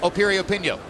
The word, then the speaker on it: Piriyapinyo: hand against a hard guy sunlit on a period pinko opinion once again the name begins with a P but it's pronounced Opie reopen yo go figure as we mentioned earlier what a